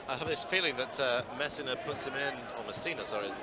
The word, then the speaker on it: Messina: I have this feeling that Messina, is the correct pronunciation.